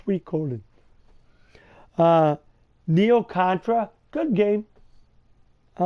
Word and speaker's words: Suikoden: It's pronounced Suikoden.